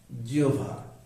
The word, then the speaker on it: জিহ্বা: ইকার রসইকার হয়েছে তীব্র তারপরে হ এর সাথে যখন ব থাকবে যুক্তবর্ণ তখন এটাকে ওভা যেমন জিহ্বা জিওভা আহ্বান আহান তো এখানে